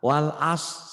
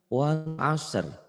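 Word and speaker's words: والعصر: Banyak orang yang bacanya salah. Wal faj salah, wal as salah, wal asr.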